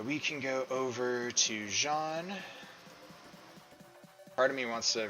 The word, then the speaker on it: Jean: names are named after it's Jean so the French pronunciation not Gene which would be the American pronunciation so we're gonna move